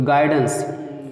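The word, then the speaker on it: guidance: तो गाइडेंस, देखिए गाइडेंस में जी से तो गा होगा, आई से आई होगा, तो लेकिन यू साइलेंट रहेगा, गाइडेंस, गाइडेंस नहीं कहते,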